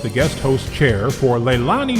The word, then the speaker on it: Leilani: Leilani, like Lei as a Hawaiian flower, and then Lani like Lonnie.